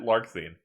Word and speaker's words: Larxene: Larxene. Is that how you pronounce that? Or is it Larsheen? Yes. No, you got it. Larxene.